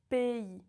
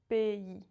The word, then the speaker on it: pays: The correct pronunciation is pays. When you see A and Y together, it makes the sound EI.